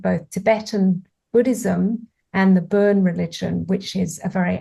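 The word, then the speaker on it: Bön: Oh, it's called BON, so burn, but I think there's a umlaut or something on the O.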